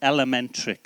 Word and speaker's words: Lmntrix: it l lric was it's elementrix so as you say it is how you pronounce it we are a uh